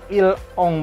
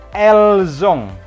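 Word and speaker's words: ils ont: Il ini dibacanya bukan il ong, bukan el ong, tapi elzong disambung.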